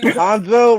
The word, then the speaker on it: Hanzo: with Hondo. Hanzo Lorian. Hansalorian. Hanzo rhymes with Hondo.